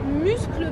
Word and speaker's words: Muscle Beach: Muscle Beach. Muscle Beach. Ah. Muscle Beach. C'est en Amérique, ça se prononce muscle. Ah oui, c'est quand même Muscle Beach. Oui. J'ai cru que j'avais inventé un C.